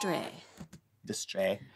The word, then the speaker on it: distrait: eye right so this I want you to pronounce it since you're our linguist this week's word is Dr Dr Dray we do not as if you're just going